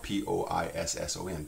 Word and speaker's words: poisson: So, for example, we did earlier the word poisson, P-O-I-S-S-O-N, poisson, had two S's pronounced like an S.